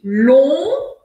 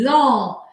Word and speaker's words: long: Então, essa primeira palavra aqui, primeira coisa importante de eu saber é que o G em francês ao final da palavra, assim como o T ao final da palavra, eu não vou pronunciar.